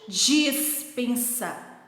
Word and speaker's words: dispensa: Embaixo, dispensa. É muito parecida a pronúncia, porém não é igual. Despensa é com E e dispensa é com I.